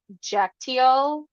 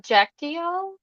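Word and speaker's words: Kyaiktiyo: want to say like Python, I think you pronounce it Jactio, Hmm. something like that. It starts with a K, but it's pronounced with a J.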